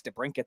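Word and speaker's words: DeBrincat: so you know Speedy the t is silent it could chuck thank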